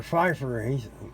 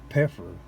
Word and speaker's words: Pfeiffer: Roger Pfeiffer. He pronounced it Peffer.